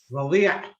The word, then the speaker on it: رضيع: Like, how would you pronounce that word if the ayin wasn't there? رضيع. Oh, and then this word is pronounced. رضيع. Okay, yeah. There is a very, you know, very heavy Like- ayn.